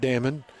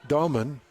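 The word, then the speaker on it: Egor Demin: comes out and says it's not Damon, it's actually Doman.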